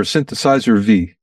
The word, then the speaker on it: Synthesizer V: Do you pronounce it Synthesizer 5 or Synthesizer V? I would pronounce it a V, although it actually means 5.